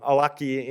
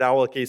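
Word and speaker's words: Awlaki: of anir alaki um often pronounced um alaki in theer in the western media but um you know his family pronounces this it alaki so I I got in the habit of saying it that way uh and I you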